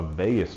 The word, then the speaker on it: vagus: a nerve called a vagus nerve. It sounds like Las Vegas, but it's way more boring, and it's spelled different as well. So it's V-A-G-U-S, the vagus nerve.